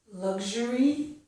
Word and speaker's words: luxury: Lug gets the g sound. Luxury. Luxury. Luxurious. Okay? We don't stress the g. I'm just doing it so you can hear it. Okay? And the pronunciation with the two voiceless sounds would be luxury and luxurious. With k, sh, luxury, luxurious. Okay? But I pronounce them this way.